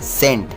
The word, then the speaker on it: scent: सेंट, SCENT, सेंट। ये जो letter है, इसमें S साइलेंट है या फिर C साइलेंट है, ये आज तक किसी को भी नहीं पता।